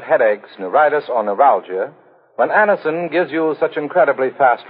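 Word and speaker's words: Anacin: Get a handy box of Anison tablets at your druggist tonight. For most effective relief, use only as directed. It's spelled A-N-A-C-I-N. Anison.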